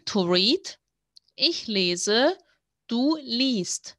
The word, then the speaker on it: liest: Ich lese, du liest. This is hard to pronounce. I must be honest, I totally understand, because you have the long E and then the ST sound.